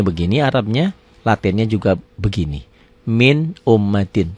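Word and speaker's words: مِنْ أُمَّةٍ: Min ummatin. Tanpa ditekan, tanpa ditahan. Tapi dibacanya jelas.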